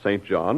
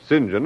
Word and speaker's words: St John: why not as a St John in the New Testament one of the disciples then Urban St John or singen as the British pronounce it I never thought of